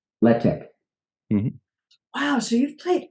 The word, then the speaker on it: Letek: Letek. Mm-hmm. Wow, so you've played. Okay, God. Letek. Okay. Letek. Letek. Letek. Yeah. It's French for the tech. Okay. If only that we had only pronounced it that way, that would have been nice.